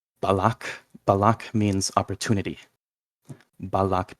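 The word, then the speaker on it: balac: yeah if if something ends with C like balak balak means opportunity balak b a l a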